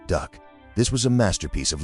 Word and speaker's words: DUKW: DUKW, pronounced duck.